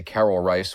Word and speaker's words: Reisz: Uh, that pronunciation I gave you for the director is the more proper I think close to the Czech pronunciation. I'm going to say Carol Rice, which is what a lot of people have done, the anglicized version, cuz I don't want to trip over my RS during this commentary.